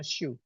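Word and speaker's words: しゅ: maka pakai tabel yang di bawah ya, yang tabel kelompok bawah dibacanya shu. Nah ini ada abjad shu di sini ya, shu yang saya lingkarin ini shu.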